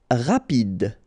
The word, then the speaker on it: rapide: Rapide. Final E not pronounced, so rapide.